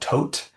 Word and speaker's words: Thoth: The first one is going to be talking about a partnership we're working on with a company or an organization called Tote. It's spelled THOTH, and they do open metadata.